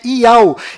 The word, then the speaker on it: יהו: nome do Criador é Iau, e a última letra do seu nome tem som de H mudo, do qual não altera a pronúncia deste nome.